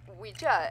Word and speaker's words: Ouija: Yeah, I say Ouija, and that is apparently, according to, I believe, the Talking Board Historical Society or something, the proper pronunciation.